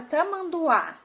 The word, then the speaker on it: Tamanduá: Então, a letra que tem mais força é a última letra A, né? Até porque ela tem um acento, né?